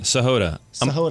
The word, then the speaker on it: Sahota: Sahod.